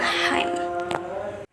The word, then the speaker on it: hymn: The letter N will become a silent letter when followed by the letter M. For example, atom, condom, column, and hymn.